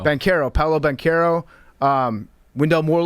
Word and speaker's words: Banchero: Banchero. Banchero.